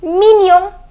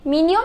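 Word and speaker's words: mignon: the next is Jian it is mininum the pronunciation is minion minion which means cute it's an adjective the next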